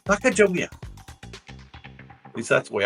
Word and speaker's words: Sacagawea: They were guided by Sacagawea. Sacagawea. At least that's the way I pronounce it.